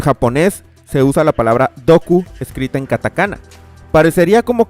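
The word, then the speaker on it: ドック: En japonés se usa la palabra en inglés, escrita en katakana y pronunciada doku.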